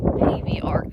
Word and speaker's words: Pavey Arc: I made it to the top of Pavey Arc. I'm assured by a local that that's how it's pronounced.